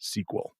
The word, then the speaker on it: SQL: So SQL, those letters, are Structured Query Language, but it's always been pronounced SQL.